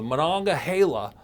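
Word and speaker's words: Monongahela: So in theory, I could get in the barrel and I could go from the Manonga Hala all the way down the Is that it?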